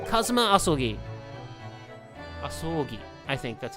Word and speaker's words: Asogi: It's pronounced Kazuma Asogi.